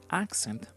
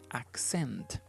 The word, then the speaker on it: accent: the first syllable an accent but if you refer to this word as a verb as an action then we don't say accent but we say accent accent M for example I